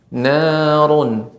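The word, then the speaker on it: نارٌ: Ya, huruf ra di sini run tebal Ibu. Narun, narun, ya.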